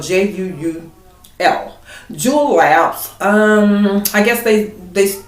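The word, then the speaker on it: Juul: around that so we have a company called jewel which is spelled j-u-u-l jewel labs um i guess they they they developed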